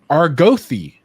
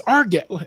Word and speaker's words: Argath: They're like the RG, you mean Argothi? And they're like, no, it's not it's Argath.